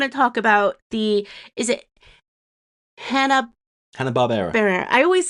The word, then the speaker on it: Hanna-Barbera: I'm kind of jumping all over the place, but I do want to talk about is it Hanna-Barbera? I always say it wrong, don't I? Hanna-Barbera.